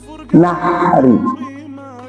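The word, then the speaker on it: نحر: Nahri. Hak gede, hak kecil. Nahri, hak gede, kecil. Hak kecil. Kalau nahri bacanya gimana? Yang hak gede.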